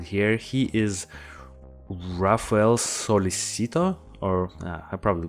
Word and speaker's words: Sollecito: If it was in Spanish, technically it's like Sollecito, but because of the double L. But in Italian, it's different. But yeah, let's just say Sollecito, even though I've seen